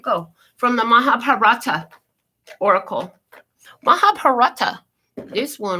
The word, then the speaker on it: Mahabharata: Mahabharata.